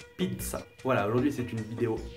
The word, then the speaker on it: pizza: en début d'un mot c'est comme dans zuccher peut-être que on a vécu en français de dire pizza comme zucchero mais en italien c'est plus fort pizza voilà aujourd'hui c'est une